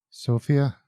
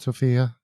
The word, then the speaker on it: Sofia: do you live in i live in sofia sofia that's how it's pronounced not sophia yeah have you been to band school i